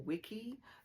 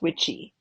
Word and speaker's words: Wicce: The word Wicce or wiki meant a female witch. The Old English pronunciation is witchy.